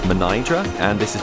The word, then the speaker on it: Mnajdra: So, while I can tell you that this is pronounced Mnajdra, and this is pronounced Hagar Qim, the rest of the language I will probably completely annihilate, so apologies all round.